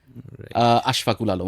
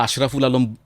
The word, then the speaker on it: আশফাকুল আলম: আশফাকুল আলম আমার নাম, তো স্বাভাবিকভাবেই নামটা আশরাফুল আলম 99% বলে ফেলে।